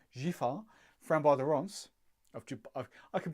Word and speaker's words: Giffard: I tell you, once you go Giffard, no D, Giffard, Framboise de Rance.